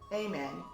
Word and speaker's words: Amen: level I want to introduce you to Dr amen that's how you say it Okay so here's